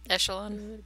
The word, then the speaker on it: echelon: I call it Echelon. It's supposed to be a soft CH. It's like, I don't know, French.